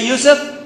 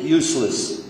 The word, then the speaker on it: Yusuf: we'll do it in English my name is Yousef can you say Yousef they got it right the very first time masah my wife still pronounces it useless could be a speech and peppermint I'm not